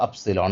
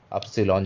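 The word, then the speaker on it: upsilon: fine so एप्सलॉन और एप्सलॉन का उच्चारण क्या है उ की तरह है जैसे कि हम एक शब्द बोलते हैं इंग्लिश में फ्लूट तो इसमें जो उ आता है बीच में दैट इज एप्सलोलॉन ठीक है फाइन एक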